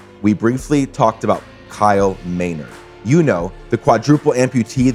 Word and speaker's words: Maynard: name in the podcast i said kyle menard and it's clearly kyle maynard i know that i